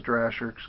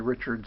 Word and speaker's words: Drahcir: And I said that's when I say it, that's what I think is Drahcir's Comics. He's since told everybody that it's actually Richard spelled backwards.